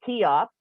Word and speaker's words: Cheops: And that the story is actually related to King Cheops, which is known as, well, King Khufu, but it's spelled, you say it Cheops, Khufu, as an event which happened in the